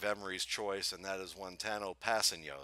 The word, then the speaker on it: Kpassagnon: choice and that is wano passeno is that correct did I pronounce his name correctly for or is it different no that's correct that's AB that's perfect actually okay good well that's